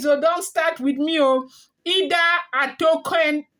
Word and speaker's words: Ida Atokun: Ida Atokun. Ida Atokun. Ida Atokun is spelled IDA ATOKUN, okay?